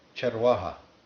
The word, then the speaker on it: चरवाहा: Charwaha.